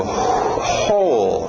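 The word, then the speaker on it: whole: d aí tired continuando ho né escrito w mais som só de um h ho ho inclusive se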